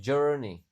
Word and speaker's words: journey: Tapi "journey," bunyinya seperti huruf e. Jadi, OU berubah menjadi bunyi e di sini.